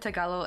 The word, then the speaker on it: Tagalog: And she was also happy I said Tagalog and not forgot what they call it, like the way it's spelled, right? People say it differently because of the J, I think.